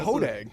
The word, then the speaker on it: Hodag: Home of the Hodag or Hodog? How do you say Hodag. Yeah, you Hodag, got that. Yeah, it's the Hodag.